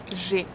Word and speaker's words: j'ai: J'ai. It's a closed sound, so we have to smile and to close our mouth a bit.